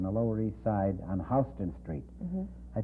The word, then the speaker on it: Houston Street: New York in the Lower East Side on Houston Street. I said, in the first place, Houston, in the entire world is pronounced Houston.